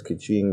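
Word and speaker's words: Keqing: know whatever also um somebody told me that you suppose that the q's you're supposed to pronounce it as che i don't know if they're telling the truth or not i look it up and it kind of sounds right so it's kiching and chichi oh i was saying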